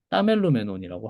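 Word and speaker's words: τἀμελούμενον: 또 아멜로메논인데 그걸 줄여서 그냥 따멜로메논이라고 하고 근데 따멜로메논이라고 한 그냥 써 버리면은 이게 추약됐다는 걸 모르니까 기시금을 붙여서 이건 추격된 거야라고 발음은 그냥 없는 것처럼 하시면 됩니다.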